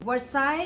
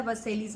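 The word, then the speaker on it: Versailles: लेकिन अब मतलब वैसे जब मैंने पढ़ा था वर्सेलीज मैंने करके पढ़ा था, मुझे पता चला गलत है. The correct pronunciation is वर्साई because it's French, और फ्रेंच वो चीज़ है जो कभी जो दिखती है वैसी बोली नहीं जाती.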